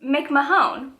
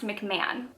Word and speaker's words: McMahon: how I pronounced this, but I pronounced it McMahon. Like, how else would you pronounce that? Hold on. I don't want to be made fun of again. Inked Witch Reads said it's pronounced McMahon. The O is just getting me.